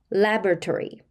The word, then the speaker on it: laboratory: 그리고 발음은요 우리가 레바토리 혹은 레버라토리 뭐 다양하게 발음을 하시는데요. 요렇게 발음하는 것이 원어민의 발음입니다. 한번 잡아 보실게요. Labory. Laboratory 그게 원어민의 발음 되겠습니다.